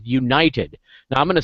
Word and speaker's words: Younited: And I want to talk tonight about a particular thing that we're doing called United. Now I'm going to spell that.